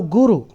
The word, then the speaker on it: guru: should be called a guru now to simplify it in English Guru the word guru has two syllables gu and Ru now guo in Sanskrit